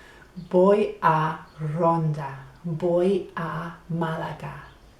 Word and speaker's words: voy: I go is voy it is spelled with a V voy a =I go to they tend to say v as a b voy a Rhonda, voy a